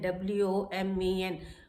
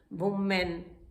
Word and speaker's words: women: Then हम लोग कह देते हैं WOMEN, वुमेन, वुमेन. नो, this is women, women, women. It is called, correct pronunciation is women.